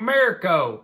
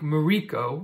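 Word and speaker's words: Merico: kind of embarrassed because I have been saying this guy's name wrong the whole time I feel like a country hick I've been calling him Nick Mirko this whole time and so you know egg on my face Nick Mariko is his name he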